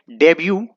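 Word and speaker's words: debut: कर सकते हैं हेलो दोस्तों नेक्स्ट वर्ड है डेब्यू आप लोगों से रोज सुनते होंगे और इस मिट्टी साइलेंट रहता है डेब्यु का मतलब होता है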